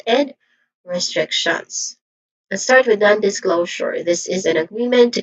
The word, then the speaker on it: non-disclosure: Pronunciation wise, I'll start with none which is short a vowel sound and then this this yeah this which is a short e sound and glow which has a tip thong sound o and it ends with your jour voiced sound here. So this is non-disclosure.